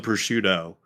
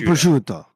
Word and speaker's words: prosciutto: Not It's a prosciutto. prosciutto. It's a prosciutto. It's a prosciutto. But they cut that last word off, so I get it now. Okay. The last syllable, yeah.